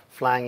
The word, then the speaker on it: Flang: lvm people decided that flying is the right name for that project uh so that rhymes with clang also uh it was